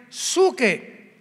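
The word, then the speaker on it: ψυχή: hombres es la palabra griega suche que se pronuncia suque hombre verdad es antropos suche antropos en el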